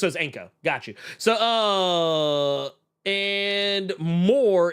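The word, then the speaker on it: Ienco: Inko. Man, Man, I don't know, man. I probably fucked that name up. I is silent. I is silent. Oh, it's Anko.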